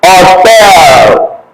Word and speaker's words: hotel: You don't pronounce H in Spanish, just like you have hotel.